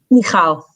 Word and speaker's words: Michal: Just pronounce it one more time. Michal.